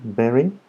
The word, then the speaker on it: bury: Bury, look at the pronunciation. Bury, enterrar.